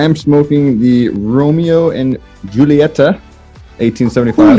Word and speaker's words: Julieta: I am smoking the Romeo and Julieta, 1875. Julieta. I know, but I'm white and American, so I pronounce that J very, very nice.